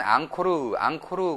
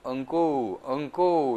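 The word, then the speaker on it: អង្គរ: 우리 한국 분들은 앙코르 그러는데 캄보디아 사람들은 엉꼬우 이렇게 얘기하죠.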